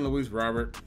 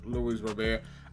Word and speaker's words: Luis Robert: And yes, I know I've been saying Luis Robert for Luis Robert. Honestly, I've literally been pronouncing it wrong because anytime I'm watching